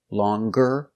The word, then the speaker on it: longer: an adjective with e you make the G sound longer stronger younger or if you change